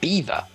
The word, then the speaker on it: Belvoir: dam in the river beaver but we're going to belvoir i could not get the two together but belvoir because it's french would not have been pronounced belvoir necessarily it's personally not by english people listening to french speakers so over time the english pronunciation was like a bad impression of the french and we find that